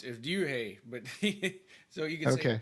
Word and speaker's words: Ryuhei: How do you pronounce his name again? It's Ryuhei, but so you can say Ryuhei.